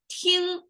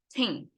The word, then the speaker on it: 听: You see here, ting, we have the G at the very end, which means a deeper nasal sound over there. And it's the closest Chinese character that sounds like ting.